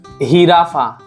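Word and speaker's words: jirafa: Okay, and then J sounds like ha and ha also. But when, for example, when J comes in starting, like here, hirafa, hirafa, hirafa.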